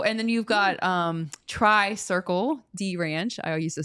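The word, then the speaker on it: Tri-Circle-D Ranch: then you've got um Tri Circle dranch I used to say the name wrong all the time and I think I got it right I used to always call it TR D Circle yeah so and literally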